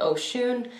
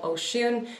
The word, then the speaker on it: Oshun: shade right here and this shade is called oh shoon i hope i am pronouncing that correctly now i do apologize i